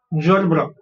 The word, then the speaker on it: gerbera: Okay, so its pronunciation is gerbera. यहाँ पे जो e है वो silent होता है. Okay, so gerbera, anthurium and lilies.